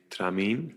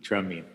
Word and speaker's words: Tramin: how do you say we say tramin tramin Okay um so welcome